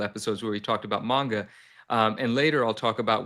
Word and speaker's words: manga: where we talked about manga, and later I'll talk about why I'm calling it manga now and not mangas. I was corrected. I didn't know that there's no S when it's plural.